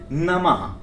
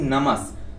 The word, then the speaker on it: नमः: हम कहें ओम हनुमते नमः वह वाला नमः आए न कि नमक अगर नमक के तरीके से हम देखेंगे तो इसका उच्चारण को ओम हनुमते नमक लेकिन यहां पूर्ण हनुमते